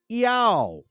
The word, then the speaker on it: IAO: So now, how do you say that? Now, us that speak Spanish, we know how to say that. Yao. Yao. Okay, that's how you say it.